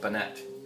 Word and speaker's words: Bunnett: Yeah, Bunnett.